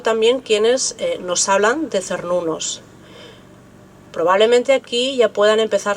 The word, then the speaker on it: Cernunnos: Una de ellas es que la palabra Cernunnos, que probablemente en esa época se pronunciase como Quernunnos, podía proceder o bien